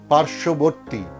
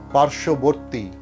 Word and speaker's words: পার্শ্ববর্তী: আবার বলছি যুক্ত ব্যঞ্জনবর্ণে যদি বফলা যুক্ত হয় তাহলে সেই বয়ের উচ্চারণ থাকে না। যেমন সান্ত্বনা, সান্ত্বনা, সান্ত্বনা। দ্বন্দ্ব, দ্বন্দ্ব। উজ্জ্বল, উজ্জ্বল, উজ্জ্বল। তত্ত্ব, তত্ত্ব। উচ্ছ্বাস, উচ্ছ্বাস। পার্শ্ববর্তী, পার্শ্ববর্তী।